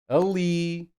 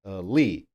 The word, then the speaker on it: ali: Any word with any of these endings will be stressed on the last syllable. Ali, feliz, Peru, Jesus. You see? Or can you hear? Last syllable, the stress. Ali, feliz, Peru, Jesus.